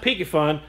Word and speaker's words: Piscifun: on the brand new pfun pronounced pyun Kraken electric reel this